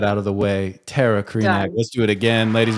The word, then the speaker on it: Krajnak: It's Krenak. The J is silent. Krenac. Okay. All right. We got that out of the way. Terra Krenak.